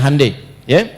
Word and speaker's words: Hyundai: Ya, Hyundai saya tahu bahasanya dibacanya Hai ya.